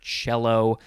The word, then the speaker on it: cello: it should be pronounced it is the word cello but it is spelled c-e-l-l-o uh there's an old kids program